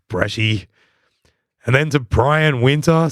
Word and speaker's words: Breccia: So let's do our best Italian pronunciation of your name. Luca Breccia. He's a Luca Bresci.